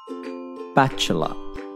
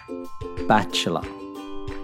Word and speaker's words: bachelor: Bachelor. The stress is on the A. Bachelor.